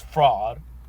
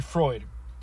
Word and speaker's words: Freud: want to think I I don't think it's fraud sigon fruit Freud Freud H Sigman Freud sorry I'm a fraud okay so let's see Freud and Freud's early studies in the treatment of